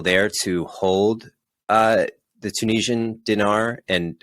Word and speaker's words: dinar: It looks like relative to the dollar, the Tunisian dinar. Yep. How do you pronounce it?